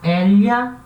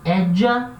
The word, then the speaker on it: ella: Tem lugares que vai se pronunciar edja, como se fosse um DJ, edja. E tem lugares que vai se pronunciar eja, como se fosse um J. Então pode ser ella, elha, edja e eja.